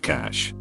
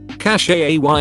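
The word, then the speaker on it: cache: mom say it right cash is pronounced cash just because it has an e on the end doesn't mean you have to throw on a French accent and pronounce it how you think they would or do cash a Y is definitely not correct or Rangoon almost everyone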